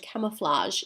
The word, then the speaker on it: camouflage: it's a soft sound it's not a J some students sometimes get confused and put a J there because does sound quite like that well it's actually a